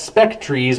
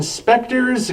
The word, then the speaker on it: Spectres: on coming mispronounced as Spectras by some radio DJs of the time 1977 spectres gave Blue Oyster Cult